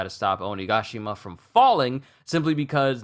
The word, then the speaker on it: Onigashima: been pronouncing it because the way they enunciated in the sub is onigashima it's not only gashima I feel like I've